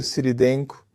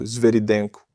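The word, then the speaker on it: Svyrydenko: Eu sou Siridenko. Desculpa, preciso pronunciar certo. Esveridenco. Pronunciei errado antes, mas é esveridenco.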